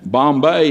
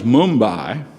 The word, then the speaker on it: Mumbai: name of these cities, they've changed the names of a lot of them back to the old Indian pronunciation. Like you've heard of Calcutta. Well, it's not Calcutta anymore, it's Kolkata. And Bombay is Mumbai, and Bangalore is Bangalore.